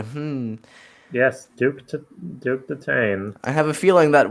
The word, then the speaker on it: Duke Detain: yeah, and we have Duke Detain, whose name funnily enough rhymes with Chase McCain. Hmm. Yes, Duke Detain.